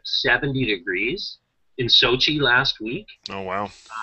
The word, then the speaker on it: Sochi: Yeah, Sochi, you got it right.